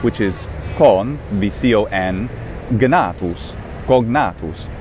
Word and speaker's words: cognatus: It makes much more sense if the normal Republican, late Republican classical pronunciation is in fact gna, cognatus. Otherwise, cognatus seems a little bit odd. It should be written C-O-N-G-N for something like that. And since it's not, that tells us that there's some kind of different pronunciation.